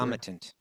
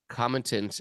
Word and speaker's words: concomitant: and peace as its own how do you pronounce this word? Concomitant. Concomitant elements.